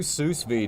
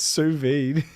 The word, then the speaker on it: sous vide: All right, we'll do sous vide day. So videos. What the heck is this? Yeah, or whatever. How's it pronounced? Sous vide.